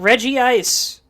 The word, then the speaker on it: Regice: But I know it's pronounced Regice because its companions are Regirock and Registeel, and they are called the Regi Trio.